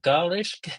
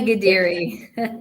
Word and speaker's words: Ghadiri: Today we have a special guest called Mona Mona Gish. Sorry, I couldn't pronounce the surname. No, it's okay. Mona Giri Geri, could you introduce yourself, please?